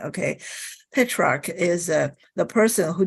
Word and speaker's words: Petrarch: so on so patriarch hey shark okay I keep adding an eye there don't follow me okay pitch rock is uh the person